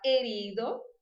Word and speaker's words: herido: O H, então, é mudo e a palavra herido, eu vou pronunciar como se ele não existisse, né?